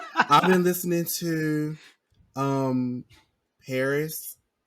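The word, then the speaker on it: Pbris: that okay okay I've been listening to um Paris it's spelled p b r i s okay um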